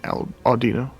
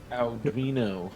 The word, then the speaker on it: Audino: And Audino. Aldino. God, you almost made me say it, because you always do that ow syllable, which it does not have.